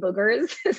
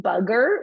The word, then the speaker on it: booger: just to be correct booger is spelled with two o's if you say it with a you you're saying bugger which means something different it's like a british term okay so a stuffy